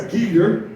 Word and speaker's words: Geeter: It's Geeter, Geeter, not Greeter, not Geeter, not Greeter, not Kaiser, it's Geeter.